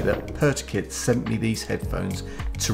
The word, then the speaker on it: PRTUKYT: the 9s wireless headphones from pertikit that's spelled prt uk yt so i think i'm pronouncing that correctly but i'm gonna be